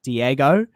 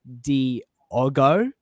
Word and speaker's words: Diago: course on stream I called him um Diego but it's Diago I was like hey